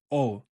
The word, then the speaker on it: を: And it always places o before the verb. And remember the correct pronunciation is o, not wo, o.